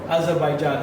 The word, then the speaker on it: Azerbaijan: And it's a pleasure, it's an honor, and it's a surprise to meet someone directly from this Republic of Azerbaijan. Have I pronounced it correctly?